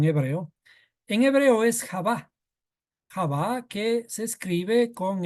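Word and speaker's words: חוה: español le pusieron en hebreo en hebreo es Java Java que se escribe Con esta letra het b y Hey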